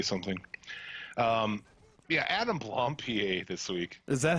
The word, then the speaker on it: Blampied: Adam Blompier this week. Is that how you fucking pronounce it? Yeah, I've always pronounced it Blampad. Blampad. No, I think it's Blompier. Because he's fancy and European.